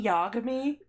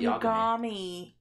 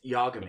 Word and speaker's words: Yagami: just say Yagami yeah the guy's name in Death Note is light yamii it's Yagami it's Yagami either way you can't not pronouncing that properly neither are you it's yogami it's Light Yagami by the way you're